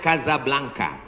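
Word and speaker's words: Casablanca: Ibu kotanya tulisannya Casa Blanca. Cara bacanya Kazablanka.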